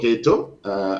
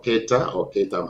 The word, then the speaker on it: Keita: the past, for example, Modibo Keito, or Keita, I'm not sure how it is pronounced, in 1960, yeah, Keita, in 1962, he tried, it was then newly independent.